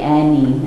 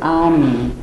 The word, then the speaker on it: Ani: A lot of Americans say Annie, and this is a joke between Linda and I. My name is Ani, and it's the capital of ancient Armenia.